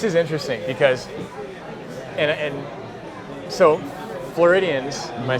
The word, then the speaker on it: Floridians: Now this is interesting because, and so Floridians, am I saying that right? Floridians, yeah, you're saying it right.